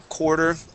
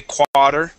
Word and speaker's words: quarter: so let's see here quarter a uh yeah they're not they're not doing the same a sound this is more of an O Okay because we would not say quad okay or car okay